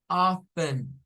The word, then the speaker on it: often: no se pronuncia often esa t no suena Eso significa Con qué frecuencia esa pregunta así How How often how often es como